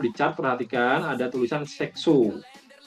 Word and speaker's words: Saxo: Ini teman-teman kalau di chart perhatikan ada tulisan Saxo. Saxo atau Saxo bacanya ya.